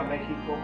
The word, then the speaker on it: México: le gustaba venir a México porque él decía que la palabra México, que realmente así es como se pronuncia, México, tiene mucho que ver con el Mashiach, así se pronuncia.